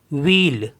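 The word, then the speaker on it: ville: means होता है प्यूप अब इसमें कुछ एक्सेप्शन है जैसे वी I double L ई तो इसको पढ़ते हैं हम व्हील व्हील मीस होता है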